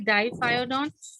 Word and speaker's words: diphyodont: Yes, diphyodont. Diaphragm. If you will pronounce it correctly, your spellings will never go wrong. Diphyodont. There is no R over here, so we are going to simply say diphyodont.